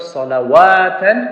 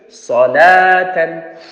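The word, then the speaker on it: صلاةً: Remember, it's waw is the extra, it's not salawatan, it's salatan.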